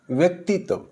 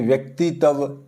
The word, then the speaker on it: व्यक्तित्व: देखें ये शब्द है एक जैसे व्यक्तित्व। तो इसको कुछ बच्चे ऐसे जैसे व्यक्तित्व यानी कि त्व को अलग करके बोलते हैं।